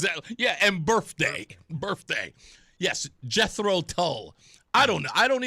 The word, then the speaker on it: Jethro Tull: Did I say I said I said Jeffro Tull I say it like that spawn I really don't say it like the like the like like the regular folks do.